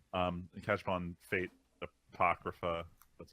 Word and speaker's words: Apocrypha: that this weekend and catch up on fate Apocrypha that's how you pronounce it it's you know it's interesting enough